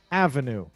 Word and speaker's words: avenue: I do this when it's on the first syllable. Let's get ready to clap. Ready? Avenue.